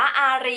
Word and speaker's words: อารี: นั่น เอง นะ คะ ตอน แรก อ่าน ว่า แี่ นะ คะ จริง ๆ คือ อ่าน ว่า อารี นะ ภาษา ไทย ๆ แล้ว นี่ แหละ นะ